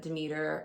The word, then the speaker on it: Demeter: And so Persephone goes to this party where her mother, Demeter, or Demeter, depending on how you want to pronounce it, has basically auctioned off Persephone to Zeus to become Zeus's wife.